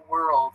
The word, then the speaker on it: world: year or two ago world is really difficult to pronounce so like were it's the it's the are LD I think world so lots of people